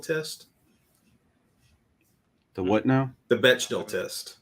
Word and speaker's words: Bechdel: The Bechdel test. Bechdel. It's spelled Bechdel.